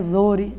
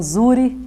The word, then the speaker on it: Zhouri: Eu gostaria inicialmente, doutora Andréa, que você dissesse para nós quem é, antes de ser doutora, né, Andréa Zuri, ou Zuri, como você disse, as duas pronúncias, você aceita?